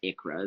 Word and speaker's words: ICHRA: The ICHRA, pronounced ICHRA, is an individual coverage health reimbursement arrangement.